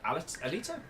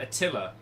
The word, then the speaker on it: Alita: about the uh Alita is it Al Alita yeah uh cuz I called it a tiller battle I've mispronounced that series for as long as I have been into weebery but the uh the battle